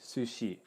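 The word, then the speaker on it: すし: you have a su this is pronounced su and she this is pronounced shi sushi okay and then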